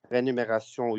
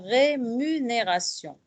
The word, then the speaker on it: rémunération: lieu saïda salle feuillets rénumération ils s'en prennent à nous tromper dans rémunération c'est le contraire vous il faut prononcer le m à molène type de